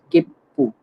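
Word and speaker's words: 切符: Okay, तो इधर क्या है, ते क्या है, तो डबल टी प्रोनाउंस होगा। की, देन छोटा सु, और फिर ते, कित्ते। नेक्स्ट इज किप्पू, किप्पू, सो किप्पू मतलब टिकट्स।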